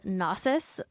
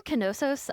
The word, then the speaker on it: Knossos: The Minoans' largest city was called Knossos or Knossos. I've seen it pronounced both ways.